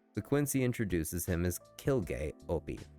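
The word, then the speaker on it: Quilge Opie: The Quincy introduces him as Kilg Opie, pronounced crazy with a Q.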